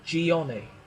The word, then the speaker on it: Gianni: crucial in fact but we pronounce his name gianni okay gianni cordola here